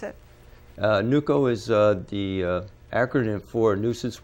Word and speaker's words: NUCO: As NUCO, that's how you pronounce it? NUCO is the acronym for Nuisance Wildlife Control Operator.